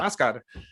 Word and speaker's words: Huascar: So it's Oscar, but to them it's Huascar, Oscar.